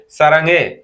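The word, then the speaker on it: 사랑해: সারাঙে। ওই যে হে, হেটা তখন কি হবে? উচ্চারণটি চেঞ্জ হয়ে যাবে, সারাং হে, সারাঙে। ওই যে এ গে এর ভিতরে চলে গেল, সারাঙে, সারাঙে, এটা।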